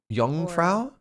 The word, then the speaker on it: Jungfrau: for us to go to oh can you pronounce it Jungfrau young Frau that's the Top of the World Part we